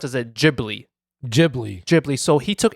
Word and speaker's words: Ghibli: ] that up because the word itself is based on some Italian word Ghibli okay yeah yeah but Miyazaki himself pronounced as a Ghibli Ghibli Ghibli so he